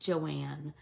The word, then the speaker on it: Joan: thank you Kels so it's spelled Joan but it's pronounced Joanne but if you just